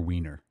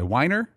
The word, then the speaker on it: Weiner: go by different pronunciations I know a guy goes by whiner and it goes by weiner with that last name spelling do you want to be a whiner or a wiener there's no there's no